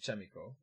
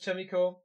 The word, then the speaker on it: Chaemiko: You were pronouncing it right, said Stoker. Thanks, man. So Chaemiko, we keep it with Chaemiko. Valiant says Chaemiko.